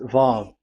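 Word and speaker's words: וו: Vav. So it's V as in Vogue. So it's really V. How to read Vogue? So the word, the shape Vav is really pronounced V, like Vogue.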